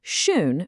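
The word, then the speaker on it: schön: Without the dots, the word shaun means already. But if you add that umlout, shun means beautiful.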